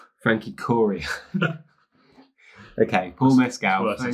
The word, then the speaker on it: Corio: Is that how you pronounce the name? Frankie Corio.